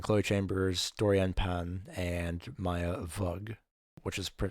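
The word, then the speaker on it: Maya Weug: Tina Houseman, and Khloe Chambers, Dorian Pan, and Maya Vug, which is spelled we uug. Uh, so I'll probably mispronounce it as Maya Wug at some point.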